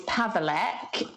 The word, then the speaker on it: Paweleck: it's not like anymore so how do i pronounce your surname my surname now is pavelk and um when i got engaged to my